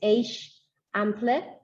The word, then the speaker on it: Eixample: It's pronounced, well, it starts with an E-I-X, Eixample.